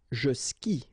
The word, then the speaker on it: skie: And it's exactly the same rule, so you've got this after, but then clearly you don't pronounce it, okay? Elle joue. And then, je skie, okay?